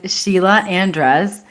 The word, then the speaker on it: Sheila Andres: Today's guest is Sheila Andres. Did I pronounce that correctly?